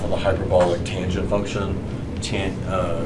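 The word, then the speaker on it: tanh: the hyperbolic tangent function tint it rhymes with Blanche so they say tan CH or hyperbolic tangent to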